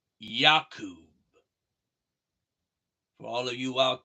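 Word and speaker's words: يعقوب: In Arabic, Jacob is pronounced Yaqub.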